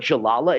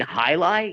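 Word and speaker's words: Jai alai: do you know what Jalala is?" And she's like, "Jalala?" Like, you mean highlight? Yeah, 'cause it's spelled Jaialai. So they didn't even know how to pronounce it.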